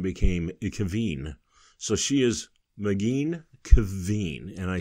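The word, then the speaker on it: Maghine: and I have mcgeen so that is m a g h i n e that looks different it looks science fictiony it looks like it might be a real name and it rhymes with machine so that was easy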